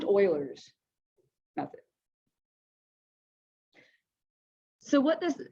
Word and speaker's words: Euler: is euler's method which his name looks like it's spelled fuelers it's pronounced oilers that's it so what